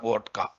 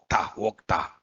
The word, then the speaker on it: Okta: OAuth 2.x or Vodka. Okta.